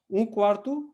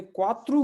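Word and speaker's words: quarto: लेकिन अगर आपने क्वात्रु बोल दिया, क्वात्रु, तो ये हो जाएगा 4। तो ये दोनों शब्द बहुत करीब के हैं, क्वात्रु 4, क्वार्तु क्वार्टर या कमरा, ठीक है।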